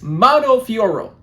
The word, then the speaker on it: Manon Fiorot: the pronunciation every time I believe it's mono fioro okay I know you don't really pronounce those last couple of letters that's what I do